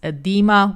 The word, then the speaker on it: edema: disease such as, and apparently I've been pronouncing this wrong in the past, so it's edema, where cells can burst and die.